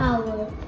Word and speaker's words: hour: This means that H is silent in this word.